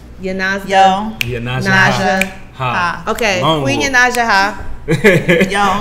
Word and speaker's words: Yonasda: Yonasda.